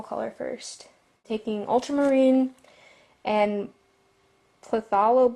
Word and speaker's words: phthalo: Taking ultramarine and phthalo blue, that's how you pronounce it.